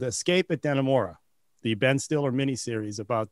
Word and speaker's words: Dannemora: Escape at Dannemora. Am I pronouncing that right, Drew?